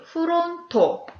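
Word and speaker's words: フロント: 네, 프론토. 프론트를 일본어 발음으로는 프론토라고 합니다.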